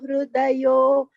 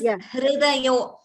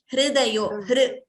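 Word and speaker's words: हृदयो: Their Hridaya, that pronunciation of that word, it is Hridayo. Instead of Hru, we should not chant it as Hrudayo. Hridayo.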